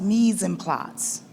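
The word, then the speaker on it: mise en place: the board something we a term that we have in uh arts is pronounced means and plots m-i-s-e second word in e-n and plots visually plots looks like place because it's related to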